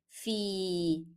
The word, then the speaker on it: في: Here we have fa with kasra and then followed by ya. So it will be a long vowel, fi. And because ya is preceded by kasra, it is said or pronounced as e, not a.